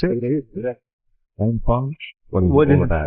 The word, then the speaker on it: NFON: Is that how we pronounce it? It is, yeah. NFON?